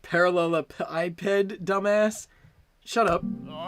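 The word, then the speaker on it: parallelepiped: that's it yes it's spinning thing it's pronounced parallel ipid dumbass shut up oh this one was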